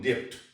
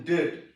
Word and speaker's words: debt: For example, when we pronounce the word DEBT, I have heard many teachers speaking depth. Yeah. That's wrong. Be silent. So be silent there. And when I teach them, and I say them dead, they understand DAT.